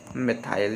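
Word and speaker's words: methyl: तो क्या हो जाएगा ये मिथाइल, या मेथिल या मिथाइल दोनों पढ़ सकते हैं, ठीक, प्रोनाउंस दोनों कर सकते हैं, ठीक।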